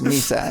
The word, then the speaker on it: mesa: So they would pronounce it Misa in Britain. Yes, Misa, exactly.